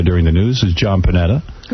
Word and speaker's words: Panetta: You gave him an extra syllable. Oh, I see panette cuz he's got the e at the end. It's panette. Panetta. You made him eye tie. Yeah, it probably is Panetta.